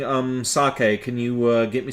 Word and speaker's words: sake: funny since that's a drink but no it's pronounced sake although a lot of uh dumb Americans call it saki yeah didn't go through with that joke because